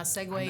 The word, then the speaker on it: segue: fill in because my segue it's pronounced segue sometimes it say SE that's the way it looks when you seg is that what it